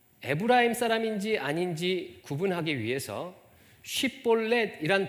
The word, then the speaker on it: 쉽볼렛: 어떤 사람이 지나가게 되면 에브라임 사람인지 아닌지 구분하기 위해서 쉽볼렛이란 발음을 하도록 시켰습니다. 이때 쉽볼렛이라고 발음하지 못하고 십볼렛이라고 발음하면 에브라임 사람인 줄 알고 죽였습니다.